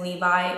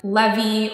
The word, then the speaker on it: Levi: to spell, but it could be misinterpreted as Levi or Levi, and we didn't want to cause that kind of confusion. It's spelled L-E-V-I, so as you can see, some people can read it as Levi, some people can read it as Levi.